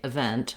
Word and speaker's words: event: vowel there and then to naturally say event rather than seeing that letter e and having that negatively influence how i pronounce the word after i can say